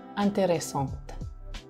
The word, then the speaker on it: intéressante: Nah, jadi misalnya une question intéressante, une question intéressante, ya. Kemudian ada des questions intéressantes. Des questions intéressantes. Ya. Pelafalan antara kedua kalimat itu, intéressant-nya itu ya sama aja, intéressante.